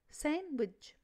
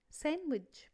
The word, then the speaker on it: sandwich: don't pronounce the letter D if it comes after the letters N.